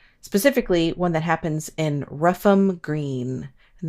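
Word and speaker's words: Rougham: in ruffam green and that's spelled ruff like r o u g h not like the dog sound ruff like r o u g h a m you know when there's like a ham at the end of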